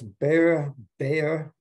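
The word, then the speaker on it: Behe: And you know, and there's a Michael, I talked about these people last time, Michael, I guess, Bayer, so you pronounce his name, and he just looks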